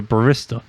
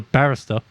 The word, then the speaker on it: barista: We call it a barista, not a barrista. Barrista. It is spelled the same thing probably as barrista, but it's not the same.